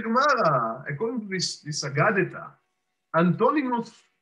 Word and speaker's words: Antoninus: Antoninus. That's the way that we pronounce his name.